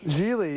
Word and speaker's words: Gigli: I know, that's the name that nobody can pronounce, so I'm not Well, sure it looks like it'll still have Jiggly, it you know, does, G-I-G-L-I. I know, so everybody says